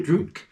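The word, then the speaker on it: Drudkh: Drutk.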